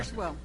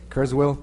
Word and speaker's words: Kurzweil: Item 15, consider and take possible action on request to purchase the, how do you pronounce that? Ms. Bazan? Kurzweil. Kurzweil 3000 software program.